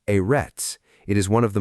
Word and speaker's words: אֶרֶץ: Eits pronounced erets.